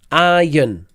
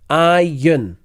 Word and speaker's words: iron: got salmon iron and as you notice with iron there's no ER and this next one